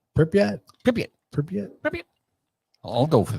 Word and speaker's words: Pripyat: So how do you pronounce that? Pripyat? Pripyat.